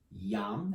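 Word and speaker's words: यं: Yam, as in yummy.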